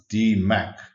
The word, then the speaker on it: DMAIC: that there is no improved phase and it's pronounced d Mac creating visual management sets up the process to